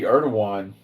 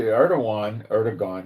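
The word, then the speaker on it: Erdoğan: people were rallying to Erdogan, you would say, but it's Erdogan, I believe, in the pronunciation.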